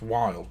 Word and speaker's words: Wilde: that um you know you start there going how can you mispronounce wild well for a start